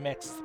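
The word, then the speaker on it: Mx: Miss, how do you pronounce it? It's It's Is it mix? I actually probably should look it up cuz I've seen the prefix many many times, but I've never actually talked to someone who uses it. You've heard mixed pronunciation.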